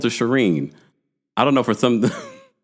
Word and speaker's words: Shireen: understandably oh Alex yeah it's Shireen I don't know why I keep sharing can I just call